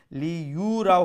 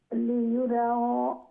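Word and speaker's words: لِيُرَوْا: ইয়াসদুরুন নাসু আশতাতা লিয়ুরাউ ইউ যে ইয়া পেশ ইউ, সেটাকে আরো একটু তাড়াতাড়ি উচ্চারণ করতে হবে। লি ইউ রাও হবে না, লি ইউ রাও, লি ইউ রাও, লি ইউ রাও, লিয়ুরাউ আমালাহুম ফামান ইয়ামাল মিসকালা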